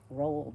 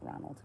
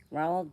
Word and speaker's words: Roald: Roald. Not Ronald. Take the N out.